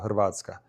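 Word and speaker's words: Hrvatska: For example, Croatia, where I'm from, it's not called Croatia. It's called Hervatka. But you try to say that, you're not going to say it correctly, no matter how much you try.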